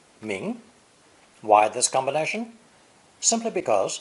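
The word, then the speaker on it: 名: in what's her name this new character is pronounced second tone ming ming why this combination simply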